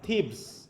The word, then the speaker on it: থিবস: ইন the town of থিবস। শহরটার নাম কি, উচ্চারণটা কি হবে? থিবস। হ্যাঁ, থিবিস বলো না জানো আবার কেউ। হ্যাঁ, থিবিস নয়, এটা হবে কি থিবস।